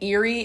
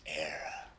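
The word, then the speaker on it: Éire: The land of your fathers isn't Erie, boyo. It's Era.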